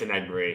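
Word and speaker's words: Enagbare: Damn Anagbury? it. There you go. Something like that. No. Inigbare. I think it's Inigbare. No, it's Anagbury. He mentioned it prior to the season.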